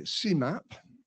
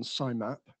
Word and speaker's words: SIMAP: the abbreviation uh uh I would say cmap because that kind of sounds much more gentle than simap um which yeah sounds